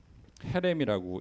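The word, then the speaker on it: חרם: 이 점을 몇 개를 찍느냐에 따라서 이제 어 그 발음이 달라지는데 어 이거를 이제 헤렘이라고 읽어요.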